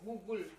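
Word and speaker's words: gogul: So offerings that you shouldn't make, I forget where it is, and one is mentioning Google, not Google. Google, it's called. It's spelled like G-O-G-U-L, Google.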